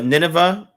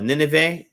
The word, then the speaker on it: Nineveh: at so you remember nineveh or nineveh or nineveh depends on how you say it but remember nidovay where